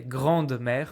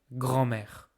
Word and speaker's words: grand-mère: So we don't say grande-mère, we say grand-mère.